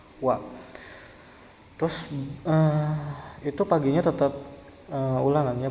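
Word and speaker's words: は: Kalau partikel wa itu habis subjek pasti diakhiri dengan partikel wa, yang tulisannya itu h tapi dibacanya wa.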